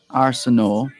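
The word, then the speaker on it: Arsenault: a wonderful weekend josephine arsenau josephine is a french name and so too arsenal are a-r-s-e-n-a-u-l-t you wouldn't pronounce the t arsenal josephine hello josephine how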